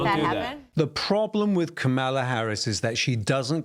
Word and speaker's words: Kamala: name for me please it's kamala yeah just think of like a comma and add a lot okay well did joe